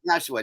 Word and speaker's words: Nashwa: How do we pronounce her? Nashwa, I think, is it? Yeah, Nashwa.